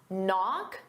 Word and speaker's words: knock: Knock. The K is silent and off.